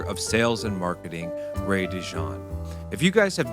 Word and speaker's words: DeJohn: It said how it's spelled. Yes, DeJohn.